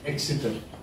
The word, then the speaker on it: Exeter: Did I pronounce Exeter?